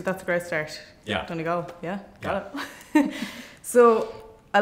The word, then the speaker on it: Donegal: And you're pronouncing it right, too, so that's a great start. Yeah. Donegal.